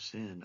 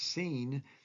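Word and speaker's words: סין: was the wilderness of sin. Oh, it's where they're going to be tempted. It's wilderness of sin. Well, it's not really sin in that meaning of that English word. It's pronounced seen.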